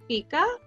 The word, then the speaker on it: fika: This is the word fika, and this is how you pronounce it.